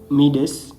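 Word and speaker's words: Medes: the middle uh meet the another proper pronunciation material Midas which is m e d e s and Persians so these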